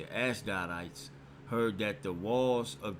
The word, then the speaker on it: Ashdodites: I say, yeah, that's how you say it, Ashdodites, heard that the walls of Jerusalem were made